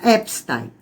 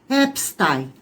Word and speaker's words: Epstein: Ele é um judeu. Então a pronúncia não é americana, a pronúncia tá é judaica, então é epstein. A pronúncia americana é Epstein. Então eu vou continuar mantendo a pronúncia original, OK?